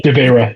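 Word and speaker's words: De Veyra: D-E, it's D-E. Devera. Yeah, Devera. R or DE space VEYRA.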